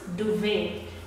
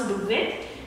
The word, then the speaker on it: duvet: We spell duvet, but we pronounce duvet. We pronounce duvet.